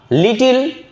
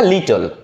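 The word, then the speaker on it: little: টি ইন দা কাপ লিটিল very লিটিল ফিউ মাস এর মধ্যে একটা গোলায় যায় না দেখেন লিটিল আগে লিটিল আর ফিউ এর পার্থক্য লিটিল মানে ছোট আসলে উচ্চারণটা লিটল লিটিল বলে আমরা ভুল বলি লিটল ছোট এবার আসি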